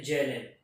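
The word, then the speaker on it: Zahlen: जेड जो है वो एक्चुअली बस डिनोट करने के लिए टर्म है, ये जर्मन वर्ड है, ये जर्मन वर्ड से आता है जिसका प्रोनाउंसिएशन है जेलेन, that means to count.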